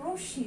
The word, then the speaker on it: রশ্মি: এটার উচ্চারণ কি, রশ্মি নাকি রশ্মি, এটার উচ্চারণ হচ্ছে রশ্মি, তাই আগে ওকার দিয়ে হবে রশ্মি, একটা চন্দ্রবিন্দু হবে যেহেতু শয়ের সঙ্গে ম আছে।